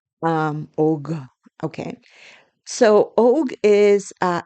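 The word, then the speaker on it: Och: It's spelled O C H, but the C H doesn't sound like O. It doesn't sound like oak. It sounds more like OG, you know, like a G. Um, OG.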